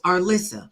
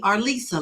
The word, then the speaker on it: Arlissa: I have some people who say my name, which I have two S's, so it's Arlissa. But there are people who will call me Arlisa, like they completely ignore the other S.